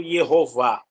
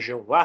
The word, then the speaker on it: Jeová: por falar nisso, né, conforme você está trazendo atenção, tanto Yehová como Jeová, que é comum em português, são legítimas essas pronúncias.